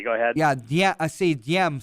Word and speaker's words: Diem: Yeah, I see Diem. Some people I've heard pronounce it Ziem because the D, our transliteration. So Diem, D-I-E-M.